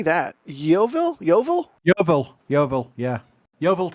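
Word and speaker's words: Yeovil: fly from Chris how do you say that YoVille YoVille YoVille YoVille yeah YoVille Town Football Club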